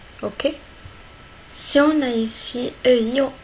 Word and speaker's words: Ei: Ei. Ei. Ei. On a ici et i. C'est ei. Ei, c'est l'œuf.